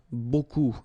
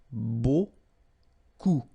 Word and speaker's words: beaucoup: If you want to use beaucoup, beaucoup means a lot of. It looks a bit strange, huh? Beaucoup, like that. Remember, you don't pronounce the final P, okay?